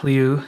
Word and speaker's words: Liu: the self-empowerment experience Lisa Leo is my guest and it is pronounced Leo yeah thank you for